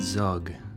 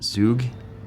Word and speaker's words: Zug: But on the way, we stopped at Zug, or I think it's pronounced Zoo in German.